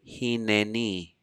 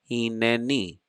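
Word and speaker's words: הִנֵּנִי: one has a shva, it's a shva na, as in the word hineni.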